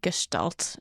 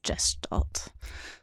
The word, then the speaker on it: Gestalt: __ ] because people a few people have corrected us that it is Gestalt and not just adult but yeah I hit